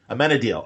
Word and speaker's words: Amenadiel: So say it for me. Amenadiel. Okay. I think Amenadude. That's how we finally got it. That's actually why one of the characters calls him Amenadude later, because that's how we've taught ourselves to correctly pronounce his name.